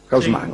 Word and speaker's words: Haussmann: En 1853, el día en que Haussmann prestó juramento, como digo, la pronunciación que se usa en París, Haussmann.